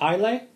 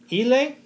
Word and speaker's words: Islay: So, is it Islay? Islay?